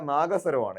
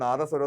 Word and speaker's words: നാഗസ്വരം: അപ്പോൾ ശ്രദ്ധിക്കുക, നാദസ്വരമല്ല നാഗസ്വരമാണ്. യഥാർത്ഥ ഉച്ചാരണമാണ് നാഗസ്വരം. ചിലർ തെറ്റിച്ച് നാദസ്വരം എന്ന് പറയുന്നത് തെറ്റാണ്.